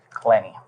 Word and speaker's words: Clenney: right and your last name how do you pronounce it CL clenny okay that's the one that I need needed